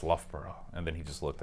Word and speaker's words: Loughborough: looked at it and I didn't know how to pronounce I said she went to lowbrow University he did not appreciate that at all get yourself over world God he went it's Loughborough and then he just